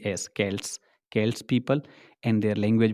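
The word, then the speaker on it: Celts: to speak the language known as केल्टिक language spelling C ई एल टी एस के्ट्स के्ट्स people and their language was कैल्टिक dear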